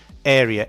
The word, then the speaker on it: area: Area. A R E A is pronounced area.